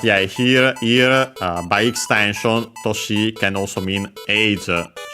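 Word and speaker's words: 年: Toshi, accent on the last mora, means year.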